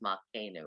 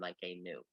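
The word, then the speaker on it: מלכנו: words, yeah, the accent is on the last one, but with the metek, it becomes on that syllable. So it's Malkenu rather than Malkenu.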